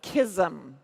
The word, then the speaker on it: KSM: today is the open beta of kisum so that's the way that we pronounce it KSM and so this